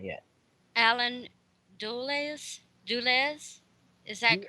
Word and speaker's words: Dulles: Alan Dulles, is that correct? Duels. I usually call them duels. Dulles? That's how you pronounce it.